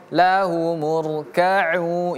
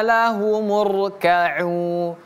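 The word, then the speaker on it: لَهُمُ ارْكَعُوا: lah murkau lahu murkau ingat ini huruf kaf setelahnya ada huruf ain huruf ain a i u dan huruf ain ini setelahnya ada wau mati atau wau sukun tadi. Jadi bacanya huruf ain itu panjang dua harakat.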